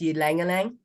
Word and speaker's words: ylang-ylang: something else I can't pronounce, ginseng, It's pronounced ylang-ylang.